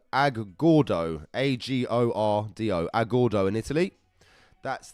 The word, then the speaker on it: Agordo: And he's from a place called Agordo, A-G-O-R-D-O, Agordo in Italy.